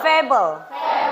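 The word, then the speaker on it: fable: Repeat after me fabel fabel Oke setelah ini nggak ada lagi yang salah ya dalam pronounciation fabel bukan fabel lagi ya fabel karena A itu pronounsnya e fabel dan yang keempat yang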